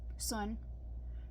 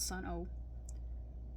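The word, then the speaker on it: Sunn O))): Sunn. Remember, they're pronounced Sun, not Sun-O.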